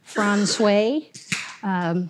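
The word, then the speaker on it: François: port communities this is France way spelled francois but pronounced obviously bit differently population about eighty-five no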